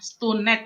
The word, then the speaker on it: StuNed: Terus bener nggak nih pronounce-nya Stunet kah atau Stun kah atau Stan kah Oh seperti apa iya, kan bener gitu bener ya? bener. Iya bener bener bener bener bener. Ya, jadi cukup mempronounce-nya dengan Stunet ya.